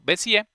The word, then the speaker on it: Bézier: Notemos que a propósito ahí no pusieron la tilde de la E, pero pues se sigue pronunciando Bézier.